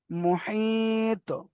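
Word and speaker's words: محيط: তার পরের অক্ষর দেখেন, এখানে রয়েছে মুহিত, মুহিত, মিম পেশ মু, হা, ইয়া, তজের হিত, হিত। এখানে টান কেন হচ্ছে? ইয়া মাদ্দা, ইয়া মাদ্দা বলে টান হচ্ছে। মুহিত।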